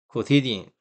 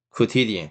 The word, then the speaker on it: quotidian: Quotidian, just a quota. Quotidian, quotidian.